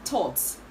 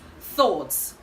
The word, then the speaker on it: thoughts: word is commonly pronounced thoughts but the right to pronounce this word is thoughts thoughts thoughts okay and not all right